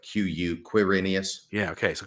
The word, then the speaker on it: Quirinius: But I think that the way it's scholars understand it to be pronounced is like Q-U, Quirinius. Yeah, okay. So Quirinius, governor of Syria, Luke 2, 1-2.